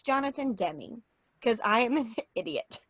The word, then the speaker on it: Demme: Lambs is not Jonathan Demme. That is not how you pronounce his name.